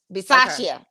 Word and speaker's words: Bisaccia: Is it Bicciaccia? Bisaccia.